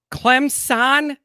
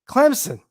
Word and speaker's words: Clemson: there is you know there is no Z in Clemson Clemson how do you want me to say it say it say it like I say it say it Clemson Clemson don't you judge my